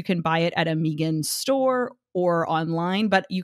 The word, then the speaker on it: Migun: It's pronounced Megan. Megan bed.